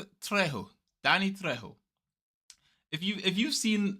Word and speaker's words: Trejo: Trejo. Trejo.